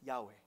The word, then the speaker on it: Yahweh: that I butchered it y-h-w-h what does that look like it's Yahweh Yahweh right it's called a tetrogramaton